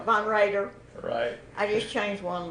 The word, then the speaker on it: Von Roeder: Roeder is that right it's pronounced Von Raider Von radar she's always got it wrong but I never corrected her v-o-n the chapter r e d e r Von Raider right I just changed one